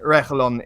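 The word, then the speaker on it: Reguilón: Listen, you're not going to be able to pronounce it in the proper Spanish way. So in the Englishy, you know, Spanglish sort of accent, Reguilon is fine.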